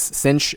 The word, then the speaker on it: sinh: But one way to pronounce them is cinch and kosh.